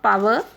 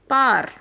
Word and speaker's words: power: इट इज़ नॉट पावर बट इट इज़ पार, नदिया के पार.